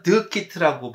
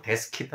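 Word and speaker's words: DS Kit: 그 뭐, 그게 지금 레진 만드는 그게 그 DS에서 그 프랑스 말하면 드 키트라고 발음해야 되는데 뭐 데스 키트 한국 사람들 데스 키트 그러는데 그 레진이 있었을 때부터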